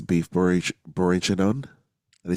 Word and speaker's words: bourguignon: Beef bourguignon.